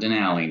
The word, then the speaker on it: Denali: closest that we'll get actually to um mount denali correct that's how you pronounce it it's mount denali now correct then um we we from 8